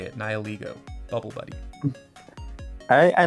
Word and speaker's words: Nihilego: But anyways, my other honorable mention today is Bubble Buddy, the Nihilego. I believe that's how you say it, Nihilego.